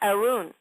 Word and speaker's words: Arun: saying your name and it's actually pronounced Arun well you know here I am I'm so bloody Americanized I see a-r-u-n oh Aaron that's a cool spelling well Arun tell me